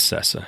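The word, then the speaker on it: Sesa: Cesa. Is that how you say his name? S E S A. That's Cessa.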